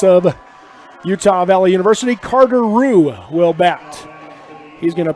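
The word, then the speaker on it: Ruch: Carter Rue will bat. He's going to pinch hit for Austin Smalley. So Carter Rue will stand in on the right side.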